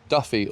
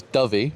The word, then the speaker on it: Dyfi: So, I've been calling it Duff Duffy all day, but it's Dobby, pronounced.